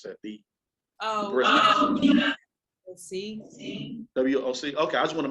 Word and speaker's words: WOC: How do you pronounce that? See. WOC.